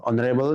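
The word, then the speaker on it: honorable: অনারেবল এইচ এর উচ্চারণ হইতেছে না, এবং এবং এটা অ্যাডজেক্টিভ, তাহলে এখানে কি বসবে বলো?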